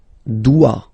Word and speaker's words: dois: Je dois. Okay, remember final S is not pronounced. Je dois. OI, when you combine the two, you get the sound wa wa wa.